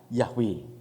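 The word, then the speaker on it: Yahweh: Ibrani itu ya Ibrani tulisan Ibrani itu enggak ada aiueo enggak ada yhwh kemudian tapi kemudian dibacanya yahwe artinya witu juruselamat Hai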